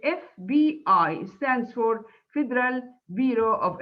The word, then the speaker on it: FBI: you see here are abbreviations that are pronounced one letter at a time you say fbi stands for federal bureau